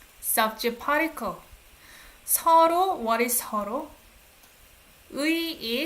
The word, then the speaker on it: 서로의: 서로, what is 서로? 의 is pronounced as 에. 서로의.